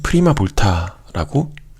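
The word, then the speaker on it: prima volta: 그래서 1이라고 써져 있는 이 아이는 프리마 볼타라고 읽으면 되고요.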